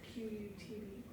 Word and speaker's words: Qutb: Qutb al-Din Aibak commissioned one of these structures in Delhi, which now resides in the Qutb complex. I'm not pronouncing that right. It's Qutb.